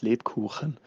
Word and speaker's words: Lebkuchen: It is pronounced Lebkuchen.